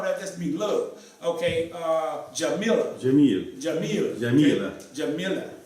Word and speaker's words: جميلة: Okay, Jamila. جميل. Jamila. Jamila. Okay? Jamila. See? جميلة. Yes. Gamila with the G.